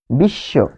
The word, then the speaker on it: বিশ্ব: তালব্যস এর সাথে অয়েছে ফলে এইযে এখানে যে বটা সেটি কিন্তু উচ্চারণ হয় নাই। কিন্তু এই বফলা থাকার কারণে এখানে কি হয়েছে? দত্ত হয়েছে। কি কোনটা দত্ত হয়েছে? এইযে ব্যঞ্জন এটি কি? তালব্য সলভ তালব্য সত্ত হয়েছে। ফলে আমরা পাচ্ছি বিশ্ব যেমন বিদ্যান।